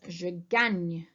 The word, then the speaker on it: je gagne: It is je gagne. Okay, if you remember how to say Spain in French, it's Espagne. It has the same spelling and therefore the same sound.